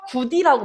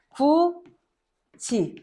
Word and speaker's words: 굳이: 이것도 누가 구디라고 발음해. 그렇지? 구디라고 하지 않지. 구지 해도지 보러 가자라고 하지. 해도 보러 가자라고 하지 않죠. 해도지.